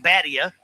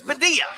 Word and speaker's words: Badia: I got lessons on how to say Badia last year because I was, of course, saying Badia. She goes, that's not it. It's Badia. Badia.